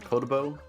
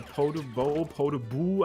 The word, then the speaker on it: Podoboo: Is it like Podobo? Yeah, Podoboo, I think is how it's pronounced.